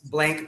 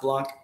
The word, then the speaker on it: Blank: michael block b-a-b-l-a-n-k uh it's blank but it's pronounced blanc he's got he's got